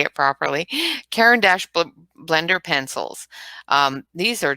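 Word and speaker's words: Caran d'Ache: i i've learned how to say it properly karen dash blender pencils um these are just wow they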